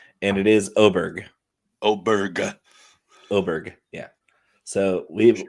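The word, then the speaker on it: Åberg: say it correctly every time going forward right oberg I had to I had to throw that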